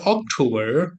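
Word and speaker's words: October: September বা বলবে ব্রিটিশরা বার বলবে আমেরিকানরা সেপ্টেম্বর অক্টোবর বা অক্টোবর অক্টো অক্টো এটা কিন্তু ও এটা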